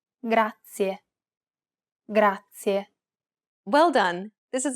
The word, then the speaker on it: grazie: This word uses the rolled R sound. Grazie. To pronounce this sound, place the tip of your tongue on the gum ridge behind your upper teeth, just like you do when you want to say the English D sound.